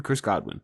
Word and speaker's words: Godwin: It's not. It's Chris Godwin. Chris Godwin? Chris Godwin. Chris Godwin. It's only 3 syllables.